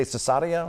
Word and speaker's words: Cesaria: Did I say it right? You did. How would you say? Would you say Cesaria?